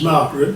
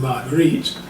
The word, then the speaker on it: Marguerite: The minister made a minimal attempt to offer comfort to those present, that the departed, whose name he mispronounced as Margaret rather than Marguerite, was now in a better place.